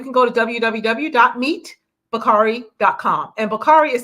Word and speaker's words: Bockarie: And we also have Bakari.